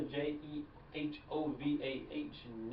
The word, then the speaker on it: Jehovah Nissi: That's Jehovah, Jehovah, Nissi, Nissi. That's not how I spell Nissi, but that's the way it is spelled in the Hebrew, and so that's how it is spelled.